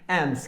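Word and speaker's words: alms: और दोस्तों ये एल जरा यहां से साइलेंट है, तो इसको प्रोनाउंस नहीं करना है आपने। एम्स क्या होती है?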